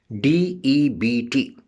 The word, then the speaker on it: debt: So D-E-B-T, in this D-E-B-T, B is a silent letter. And its pronunciation is not debit, it's debt.